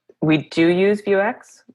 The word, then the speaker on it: Vuex: And then just like, we do use Vuex. Is it Vuex? I never know how to pronounce it. Vuex, Vuex. Everybody. I say Vuex. Okay. I think most people are saying Vuex, but yeah, both are acceptable.